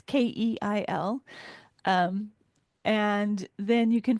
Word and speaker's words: Keil: Kyle is spelled differently than it sounds. It's Keil.